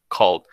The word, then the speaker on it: called: Le cambias esa A por la O, called.